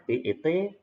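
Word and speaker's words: בית: Contoh ini B, lalu sere yod ini, E, B, E, dan ini T. Bacanya BET, bed.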